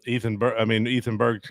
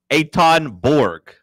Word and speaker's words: Eitan Borg: Ethan Berg's going to get 3 his name's not Ethan Berg. It's Eitan Borg.